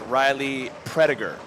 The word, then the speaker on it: Riley Prediger: It is pronounced Riley Prediger. Prediger.